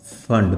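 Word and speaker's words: Pfund: जो थर्ड पे आएगी इसका नाम है पास्कन, फोर्थ पे ब्रैकेट, और जो फिफ्थ पे आएगी इसका नाम है फंड, पी साइलेंट है।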